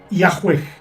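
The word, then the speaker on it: Yahweh: aún con esa actitud los eruditos modernos conjeturan que originalmente se pronunciaba y a juez Aunque en estos tiempos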